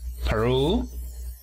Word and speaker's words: Peru: Decimos Perú. El acento se encuentra en la segunda sílaba.